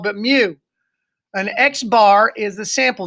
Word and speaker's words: mu: letter mu pronounce me like when a cat says Mew Mew you know not meow-meow but mu an x-bar is the